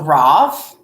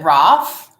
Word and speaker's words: Raf: All right, so Raf says to pronounce his name, use the English European A like bath, or can't pronounce by an English man. Both. So Both. So Roth. Is it Roth?